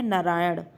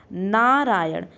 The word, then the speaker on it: नारायण: पहला शब्द क्या है नारायण तो ध्यान रखिएगा इसमें ण ड़ वाला होता है नारायण तो नारायण में कौन सा ण तोड़ लास्ट में ड़ का प्रोनाउंस एशन नारायण अगला शब्द